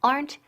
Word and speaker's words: aren't: Okay, so aren't they? And the pronunciation aren't. Quedan una sílaba. Aren't. Aplastamos esa E. No es aren't ni aren't, okay?